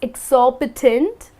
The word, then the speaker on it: exorbitant: another one here exorbitant well that's how you pronounce it it's exorbitant and this word is used for some thing